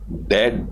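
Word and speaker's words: debt: दोबारा रीपेमेंट करना ऑफ डेट से डेट भी साइलेंट होता है इसमें डेट का मतलब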